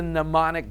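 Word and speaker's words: mnemonic: It's pneummonic, but it starts with an M, but then you got to N. The M is silent. I don't know why. It's weird, but pneummonic device.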